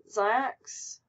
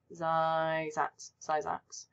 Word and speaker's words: Zyzax: Zyax? That's not how you say it. Zyzax.